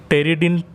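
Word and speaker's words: Pteridine: तो folate structure 3 चीज़ों से मिलकर बना है, टेरिडिन पी साइलेंट है, टेरिडिन टेरिडिन से क्या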